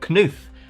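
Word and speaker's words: Knuth: and his collaborator Donald Kuth. And yes, that is how you pronounce it. I figure you got only five letters in the name. You might as well use them all.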